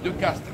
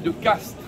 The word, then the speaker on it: de Castries: vous souhaitez davantage de renseignements sur la famille de caste je vous fait noter au passage que je dis de caste alors que cela s'écrit de castries car l'on ne prononce pas